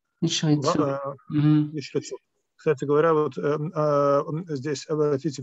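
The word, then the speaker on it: ישרצו: Это означает, что первый из них не произносится, а второй произносится.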